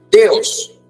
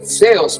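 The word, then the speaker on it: θεός: deseo de teología Dios teos teos ceos es la pronunciación correcta ceo de Dios Kratos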